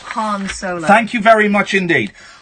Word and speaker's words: Han Solo: Han Solo. Incorrect. Han Solo.